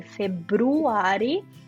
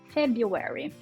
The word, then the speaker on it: February: A gente escreve February, mas a gente fala February.